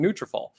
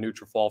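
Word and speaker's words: Nutrafol: any trouble I'm calling my friends over in neutralfall because it's going to help you reach your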